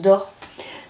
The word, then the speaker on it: Doerr: Alors, je crois que ça se prononce Dor.